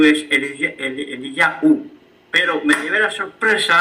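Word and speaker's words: אליהו: El nombre de Elías es Eliyahu. Bueno, la voz, no se escribe así, pero la voz que oímos en hebreo es Eliyahu.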